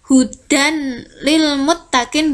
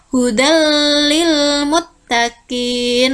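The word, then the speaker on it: هدى للمتقين: Dibacanya bukan hudan lil muttaqin, bukan seperti itu, tapi hudal lil muttaqin, langsung dimasukkan.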